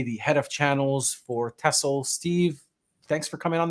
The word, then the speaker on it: Tessell: Yeah, it's pronounced Tessell.